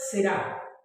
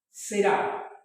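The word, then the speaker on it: זרע: en hebreo bíblico es será será así se pronuncia en hebreo bíblico nosotros en la traducción leemos Simiente pero en el hebreo bíblico es será y aparece 228 veces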